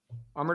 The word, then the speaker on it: Amar: So say summer and then take away the S, Summer. and that's how you say it. So Amar. Amar. Yeah. Amar.